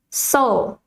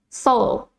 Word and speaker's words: Seoul: south korea the capital of south korea is seoul as many of you have probably know the